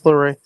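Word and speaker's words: LeRae: Just pair them together like you did with Gargano and Candace uh Candace Laray. Is it? Am I saying it right? Yeah, Candace Laorray.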